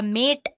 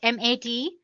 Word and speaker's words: MATE: boots you into the mate desktop environment let me pronounce it m80 you can call it whatever you want mate or mate desktop environment so as you can